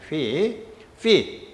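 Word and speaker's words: φ: fee 또는 phi라고 있는데 아마도 가장 가까운 발음이 fe성의 fe일 거예요. 가수 fe성의 fee.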